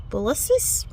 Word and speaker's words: Convolvulus: These I really need to work on my pronunciation. Convolvulus. Convolvulus.